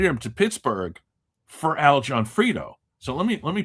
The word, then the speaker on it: Gionfriddo: So it sounds like two person's names, J O H N F R I D O or whatever, but or a full name, but it's actually his last name is spelled G I O N F R I D O. Al Johnfredo.